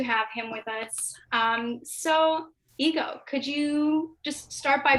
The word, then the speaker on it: Égo: It's pronounced kind of like the waffles. Although it's spelled with one G, there's an accent over the E. So a lot of the times, you know, people say ego, and it's funny because